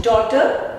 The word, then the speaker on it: daughter: Daughter, G is silent.